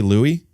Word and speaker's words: Louis: is Julie Louise Dreyfus so it is spelled l-o-u-i-s but do you say Louie first base um I